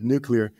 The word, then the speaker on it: nuclear: documentary about this recently nuclear yeah nuclear nuclear right it's pronounced nuclear nuclear remember Homer works at